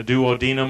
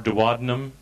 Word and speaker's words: duodenum: which they call the duodenum or duodenum it's pronounced both ways then you have a